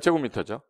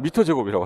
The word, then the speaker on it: 제곱미터: 면적은 미터 2개니까 제곱미터죠. 미터 제곱이요? 제곱미터요? 어떤 사람 미터 제곱이라고 하더라고요. 깜짝 놀랐어요. 초등학교를 어딜 나온 거예요? 미터 제곱이라고 읽는 사람이 있길래 유튜브에서 뭐 300미터 제곱이래.